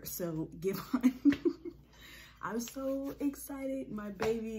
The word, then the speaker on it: Giveon: Giveon. I'm sorry, it's spelled give and on. It's just that the two words are together. So Giveon.